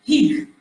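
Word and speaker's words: hygge: Por outro lado, eles têm uma filosofia que se chama Hig, acho que se fala assim, Hig.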